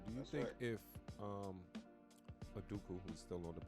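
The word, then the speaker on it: Udoka: you a question do you think if um a duke who was still on the bench that's how you pronounce his name from boston you think they'd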